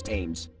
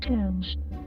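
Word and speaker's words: Thames: that out james what in the world is teams that's pronounced tams it's that english television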